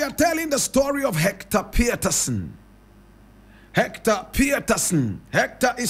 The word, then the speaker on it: Pieterson: Today we are telling the story of Hector Pieterson. Hector Pieterson. Hector is spelled H-E-C-T-O-R. Pieterson is P-I-E-T-E-R-S-U-N. Some people say Peterson and change the spelling. But the family insists that the name is Pieterson.